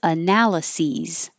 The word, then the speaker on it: analyses: now here analysis analysis and the plural is analyses analyses the verb is analyze analyze and the